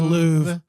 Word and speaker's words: Louvre: supposed to pronounce it's not an R like Spanish, but it's an R like the French.